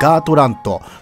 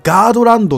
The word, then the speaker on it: ガートラント: ですけどもま正しくはガートラントまランドっていう意ではないということですねあとはガードランドとかねなんかその辺とにかくあの濁点つけまりましたみたいなそういった感じの読み方をしてる人も多いですまとにかくあのガートラント意外と濁点が少ないということま